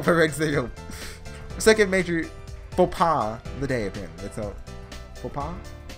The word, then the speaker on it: faux pas: I think the X is silent, right? No, that's not what I... Faux pas. Faux pas.